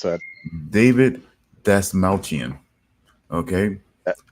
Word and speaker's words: Dasmalchian: guy, because I have no idea how to pronounce that. David Dasmalchian. Okay, That's how you pronounce it? Huh? David, that's not Yep. just like, I'm serious. David. Yep, David Dasmalchian.